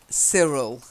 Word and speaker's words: Cyril: that's it and then Cyril is his name I know it's a why but we say Cyril okay no no that cereal cereal Cyril ah okay so try